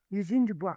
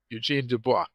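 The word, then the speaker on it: Eugène Dubois: but uh uh in in English, I say Eugene Dubois or I gain Dubois, something like that. Eugene Dubois, yeah. Eugene Dubois.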